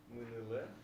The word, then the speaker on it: мыныле: Магазины, мыныле, Угу. Мынеле. мыныле. Ударение на первый слог.